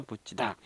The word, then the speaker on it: 붙이다: 급 가 쯤이 줘 근데 발음은 똑같죠 붙이다 부치다 자 우리가 부디 다가 왜 붙이다 로 발음 나죠 4 구개음화 현장 때문이죠 예 2 앞에 받침